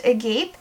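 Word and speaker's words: agape: that describes rose quartz I believe it's pronounced a gape described by ancient Greeks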